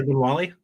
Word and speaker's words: Ogbonwale: Sorry, Ogbonwale. There you go. The first one was weird. You added like 2 N's in there.